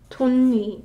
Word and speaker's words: 덧니: But as we did with 디귿 받침, this one isn't pronounced 덧니, 덧니. We don't enunciate each word. It just naturally becomes 돈니, right? 돈니.